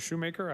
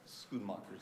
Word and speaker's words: Shoemaker: I say it right no no that you said it right that's how I pronounce it but it is Dutch okay scoon mockers I didn't think you'd